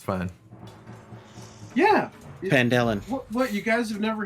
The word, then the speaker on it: Phandalin: Phandalin. Phandalin. Yeah. The H is silent. It's fine. Yeah. Phandalin.